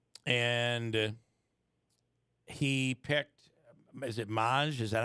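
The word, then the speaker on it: Mage: Is it Maj? Is that how it's pronounced? Yeah. Maj.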